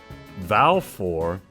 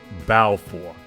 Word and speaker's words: Valefor: topic for you see in Japanese there is no symbol for the letter v as in velvet or Violet only b as in boy black and Bodacious so vow for would actually be pronounced bow for as in the bow